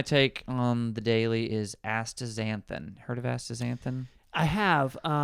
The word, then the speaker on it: astaxanthin: Pronounce it for me again. Astaxanthin.